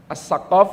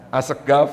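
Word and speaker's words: السقاف: Misalnya, qof diucapkan gaf, assaqaf dibaca asgaf seperti itu. Ini menggunakan huruf qof . Assaqaf dibaca aseggaf, ini adalah dialek Yaman.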